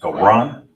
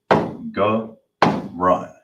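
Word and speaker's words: גרון: In the Hebrew, it is pronounced garan. Now let's get it the ancient. So you have the ga, so you're gonna connect it, so the ga is by itself. Then you got the ra and the na that's connected. So you'll pronounce it ga run.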